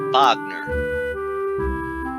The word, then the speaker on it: Wagner: vogner's father and richard wagner ma people are pronouncing la verne' Anson Wagner but it's what Bogner an old sofa the death of vogner on